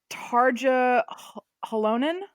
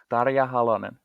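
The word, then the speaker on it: Tarja Halonen: I'm gonna get this I'm gonna get this name wrong Targa alonein Dada ya Holloman yes thank you who is who's a redheaded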